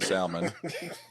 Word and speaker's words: salmon: Eugene looked like he stopped talking to people that pronounce the L in salmon.